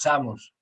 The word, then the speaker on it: Samos: You're pronouncing it in Portuguese. Or maybe that's the way you pronounce it in Galicia, which In Galicia is it's the same, it's Samos.